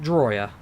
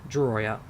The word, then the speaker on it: Drawyah: You pronounce it Drawyah, Joseph. Drawyah.